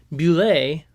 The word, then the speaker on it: bulette: It's either, I've heard bullet, which feels wrong, bullet, okay.